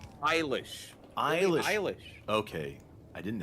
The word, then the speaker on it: Eilish: So you'll see her name around other places and you'll go, oh, that's Billy Elijah. How is it meant to be pronounced? Eilish.